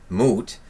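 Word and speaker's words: Mut: one of her aspects the goddess mote pronounced moot is considered self procreated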